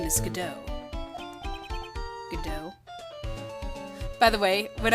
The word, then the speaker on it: Godot: So, of course I would read that as Godot for the first, I think for the first case or two. And then I'm like, oh, that's not how it's pronounced. So Godot. Who is this Godot person?